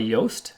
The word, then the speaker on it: Yoast: Yoast SEO Yeow assist Yoast is spelt like toast but with the with the Y so there's a very